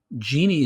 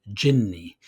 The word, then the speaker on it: jinni: But genie is actually a mispronunciation of the Arabic word jinni, and jinni is a singular, powerful jinn.